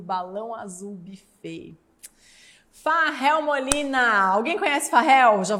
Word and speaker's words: Fahel: Farrell Molina, alguém conhece Farrell?